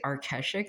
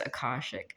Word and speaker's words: akashic: I I keep wanting to say areshik but it's akashic.